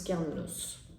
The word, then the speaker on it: Cernunnos: Alors on va regarder si Cernunnos a un message, sûrement, précis pour vous, pour nous. Oui, en plus on prononce Carnunos.